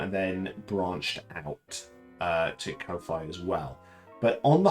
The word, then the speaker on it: Ko-fi: I kind of say it like Hi-Fi, which kind of dates me as a person. So I've always said Ko-Fi.